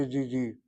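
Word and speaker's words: ידידי: You don't say yedid, you say yedidi.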